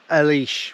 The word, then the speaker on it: Ailsh: lock a leash but I'll just spell it a i l s h so Elish we're calling it and then I think